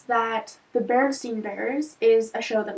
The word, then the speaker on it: Berenstain: with an a so instead of it being pronounced berenstein bears it's pronounced the Berenstain Bears which is a little awkward to say